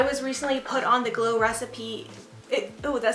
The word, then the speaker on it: Glow Recipe: recently put on the glow recipes oh that sounds so weird to say that I thought I was saying it wrong it is glow recipe but for some reason I was like lo recipe that's weird um anyway